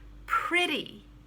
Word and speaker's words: pretty: spelled that way but it's pronounced short i and a t as a d pretty